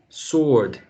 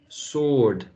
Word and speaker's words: sword: This W right there is not pronounced.